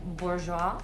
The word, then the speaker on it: Bourjois: But basically it's pretty affordable, and it's from this brand Bourjois, I think it is pronounced, and it's really good for your skin.